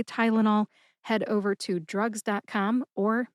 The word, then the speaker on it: Tylenol: That's tie, like you tie your shoes, like lullaby, and nall, which rhymes with y'all.